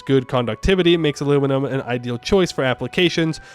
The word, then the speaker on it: aluminum: Aluminium. Which is the incorrect way to say it. Aluminum.